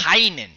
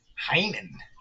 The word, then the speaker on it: Heinen: They get that Heinen. You said it wrong. You Heinen. gotta really emphasize the N. Heinen.